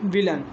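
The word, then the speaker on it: villain: ठीक, ये सर्टन, ये विलन। इसमें ए आई आ रहा है, लेकिन ए आई का उच्चारण क्या है, छोटा आ के रूप में हो रहा है।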